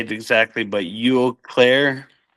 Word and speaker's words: Eau Claire: I don't know how to say it exactly, but Eau Claire. Eau Claire.